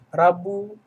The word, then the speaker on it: Rabu: juga menjadi kesalahan ya rabu ya Bu Reo bukan Rabo ya kemudian Kamis bukan kamis